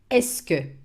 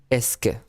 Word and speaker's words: est-ce que: The fixed expression is est-ce que. Est-ce que. Est-ce que. In Est-ce three que. words, est-ce que, pronounced est-ce que.